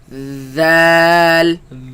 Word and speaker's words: ذال: Let's pronounce it. Val, ذال val, ذال val.